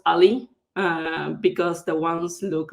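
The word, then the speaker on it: a11y: it's 11 letters in between so it's usually pronounced ali uh because the ones look like else uh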